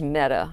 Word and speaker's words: Mehta: Judge Mehta. Mehta. I know. I was trying to. We always were concerned about how to pronounce it. It was Judge Mehta, but people thought that wasn't the right way to say it.